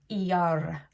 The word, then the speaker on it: Iyar: Iyar. There's a little r at the end.